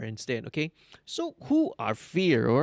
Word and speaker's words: Feir: pronunciation correct right um they're called fear right right it sounds like yes like the word fear that god's scared you know being afraid um but it's they're spelled f-e-i-r instead okay so who